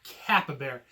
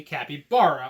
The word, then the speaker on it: capybara: not capy Bara it's not chupacabra and it's not Kappa bear when people call them Kappa Bears I think it's the dumbest way to say Kappy Bara all I can think